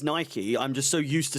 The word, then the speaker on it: Nike: only buy it on the Nike website though not on or Nike sorry um